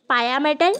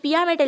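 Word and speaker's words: pia mater: কি কি দেখো ডুরামেটার পায়ামেটার এটা পিয়ামেটার লেখা আছে কিন্তু এটার একচুয়াল যে উচ্চারণ সেটা হবে পায়ামেটার আর কি এরাকনয়েড ম্যাটার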